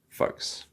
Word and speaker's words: folks: important word so again we want to avoid the L in this one folks all right so that